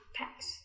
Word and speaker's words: packed: Packed. Do you hear the very last sound? Yeah, it's... Packed. Now, you hear a t sound on the end of packed, but it's not spelled with a T.